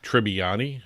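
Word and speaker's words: Tribbiani: Perry, Joey Tribani, that's how you say it.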